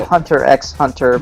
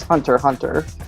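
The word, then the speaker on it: Hunter × Hunter: it's Hunter Hunter I used to call it Hunter x Hunter but apparently the pronounce right way to say it is Hunter Hunter which wonder why the hell they even bothered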